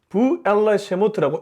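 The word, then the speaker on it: ואלה שמות: 넘어가는데요이 부분이 좀 중요합니다 제가 앞서 히브리어에서 출애굽기를 부엘라세모트라고 읽었습니다 vll shmote 뭐 그냥 한글로 써볼게요 그리고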